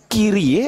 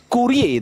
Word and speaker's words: Kyrie: Nah, itu sebenarnya bacanya Kyrie apa Kurie itu yang betul Kyrie kan? Karena kan diapit sama 2 huruf mati kan?